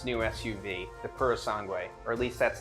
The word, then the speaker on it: Purosangue: Last but certainly not least, Ferrari has announced its new SUV, the Purosangue, or at least that's how they tell me how to say it.